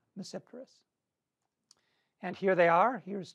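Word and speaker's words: Tmesipteris: cylotase cylodum and mesipterus the t is silent in this case it's there but i don't pronounce it so you pronounce it as if it begins with an n mesceptorus and here they are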